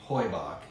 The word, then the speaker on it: Heubach: We want to start today with the history of Heubach, which I'll start by saying most people say Heubach and we say Heubach.